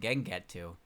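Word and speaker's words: Gengetsu: Their names are Mugetu and Gengetu. There's the the final character in their name is Tu, not Tsu.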